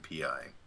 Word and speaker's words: PI: oh that that's why we'd spell it out or we pronounce both letters we call it P I so think of it